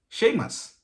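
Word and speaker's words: Séamus: you as well but apparently uh that is sheamus which is an equivalent of james apparently in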